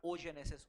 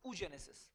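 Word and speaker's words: oogenesis: स्पर्मेटोजेनेसिस और उ जेनेसिस ओ नहीं डबल ओ को क्या बोलते हैं उ double ओ इज the spelling not ओ जेनेसिस उ जेनेसिस तो स्पर्मेटोजेनेसिस स्पर्म बनेगा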